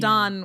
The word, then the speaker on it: Condon: Oh, with an N at the end. Condon with an N at the end.